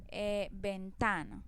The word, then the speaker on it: ventana: Ventana, entonces ventana no lleva tilde por ninguna parte pero hace la mayor fuerza o tiene el acento en la sílaba ta, porque es la que pronuncio con más fuerza.